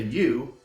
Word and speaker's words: Eu: I'm just going to say Eu because I looked up the correct pronunciation and it's like Normandy, and I don't really want to say Normandy.